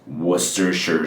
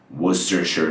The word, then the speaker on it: Worcestershire: And the first part of the word, which looks like Worcester, is actually just Worcester. Worcester. So it goes Worcestershire sauce. Worcestershire sauce.